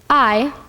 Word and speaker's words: Ay: 3 almond hoodup 4 I I like an eyeball yes that is the